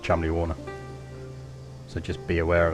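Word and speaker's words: Cholmondeley: um chimney wall right it's not how it's spelt but it's pronounced chumley warner so just be aware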